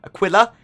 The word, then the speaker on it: Aquila: Owners of Constellation Aquila and Andromeda, or Aquila as it's more correctly pronounced, will have a permanent Merlin added to their hangar because they basically were included with their ship.